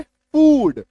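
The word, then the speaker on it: food: Double O plus D का इकलौता exception है फूड।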